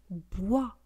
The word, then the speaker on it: bois: un mot d'origine étrangère bois un bois des bois bois un bois bois. Vous voyez, on ne prononce pas le S final.